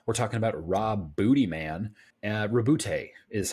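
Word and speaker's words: Roboute: Rabute is how you actually pronounce that.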